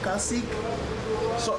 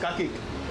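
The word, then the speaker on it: cacık: I have ordered kasik. Sorry, wait, how do you say this? Kasik? Kasik is it? Huh? Tzatziki. No, this one. Kakik. Oh, okay. Kasik. Okay. I have ordered kakik.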